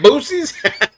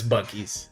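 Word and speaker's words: buoys: the English language English all the rules on in the English language relates to that word spelled that way would be pronounced as booies but it's bues I know it's bues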